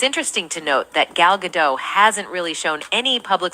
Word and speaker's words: Gal Gadot: Her name is pronounced Gal Gadot.